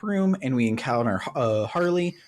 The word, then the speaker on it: Harle: and we encounter uh Harley her name is spelled like uh Marl but it's pronounced Harley because she's literally a